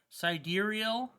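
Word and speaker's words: Sideræl: phonetically pronounced as expected crimes clarified that seed rail is pronounced side deer e l sidereal extra dark sidereal is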